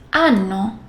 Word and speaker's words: hanno: And yes, H, H is silent. Io, ho, tu, hai, lui, lei, ha, noi abbiamo, voi avete, loro hanno.